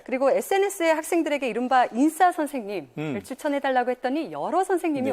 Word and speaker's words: 인싸: 인사이더의 앞부분을 줄여서 인싸, 네네. 세게 발음해서 그렇게 하고요.